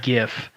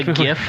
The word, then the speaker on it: GIF: had a mattress i literally thought you said gif my gift again that is that is a thin mattress it is the correct pronunciation the gif not gif right by the